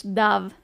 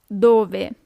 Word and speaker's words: dove: Don't be tempted to pronounce it as in English, dove. It's dove.